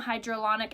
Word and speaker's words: hyaluronic: So it has flower extract, it has a blurring technology in it, it has sodium hyaluronic acid. Did I say it right? Kind of. There's no D in that word.